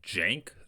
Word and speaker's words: Cenk: So I think I've been saying his name wrong. I got corrected in my comment section, and it's Cenk, like with a J, which I can totally get behind.